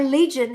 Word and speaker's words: Ligin: My Legion is American Legion or Fresh Flower Legion pronunciation, but it is actually spelled like Ligin.